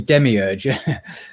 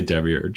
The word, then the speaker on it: demiurge: a demiurge in Greek long time to learn to pronounce that word but it's demiurge yeah well I mean it's a temuros in Greek you can do whatever you want with it I usually say Debbie urge in English yeah yeah so the